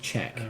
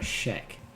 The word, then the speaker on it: Czech: I've always heard it pronounced Czech, not a Sheck.